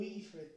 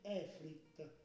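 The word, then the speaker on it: Efreet: Molti di loro sono stati coinvolti in scherzi dal tono, si legge Efrit.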